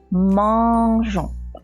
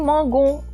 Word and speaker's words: mangeons: Alors, attention à jon. Je vous connais, vous allez écrire mangon. Non, non, non. Il faut faire sonner je.